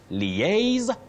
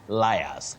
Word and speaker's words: liaise: So you say liaise, not liars.